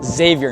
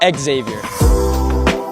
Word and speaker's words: Xavier: but first let's get one thing straight it's pronounced Xavier not Exavier Xavier is located in Cincinnati Ohio but our